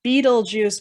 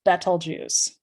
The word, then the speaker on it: Betelgeuse: right here is called rigel now i said betelgeuse now i know sometimes called people pronounce it as beetlejuice but it's better juice but hidden within the constellation orion if you